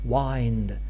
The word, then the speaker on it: wind: was wi and therefore it's not only for the sake of rhyme just to have true Rhymes that we pronounce wind